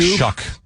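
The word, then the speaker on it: Shough: Yeah, it's like Shuck, even though it doesn't look like Tyler Shuck and Jordan Tyson.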